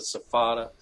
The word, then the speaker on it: SFATA: what is your role the acronym we pronounce it so fada it's the smoke free